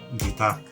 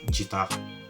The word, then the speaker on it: guitar: on I realized that it's actually guitar not gitar number three is stroke